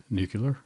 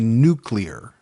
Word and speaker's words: nuclear: there I don't know say it nucular well that's the way I said yeah but it's actually nuclear nuclear see what you just